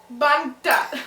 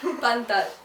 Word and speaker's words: pantat: Bantat. Pantat.